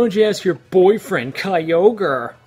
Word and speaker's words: Kyogre: you ask your boyfriend Kyogre it's pronounced kog thank you very much